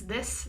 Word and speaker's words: this: It has a short I sound.